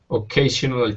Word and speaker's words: occasional: Occasional shouts. Yeah. Okay. Occasion, since the stress is in the middle here, occasional. The first sound you don't really need to say occasional.